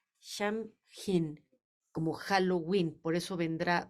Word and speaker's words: Samhain: Celta que se es que se pronuncia sham hin como Halloween por eso